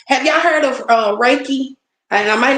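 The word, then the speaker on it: reiki: what it does have y'all heard of uh raiki and I might not be saying it right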